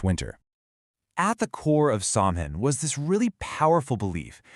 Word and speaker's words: Samhain: It was an ancient Celtic festival called Samhain, and you pronounce that Samhain.